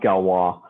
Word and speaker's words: Galois: so it's it's it's it's spelt like galois but it's pronounced galwa um and you know